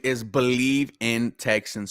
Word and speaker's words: BLEAV: Yeah, so our podcast name is Believe in Texans. So the Believe is spelled capital B, capital E, capital. I'm sorry, BLEAV.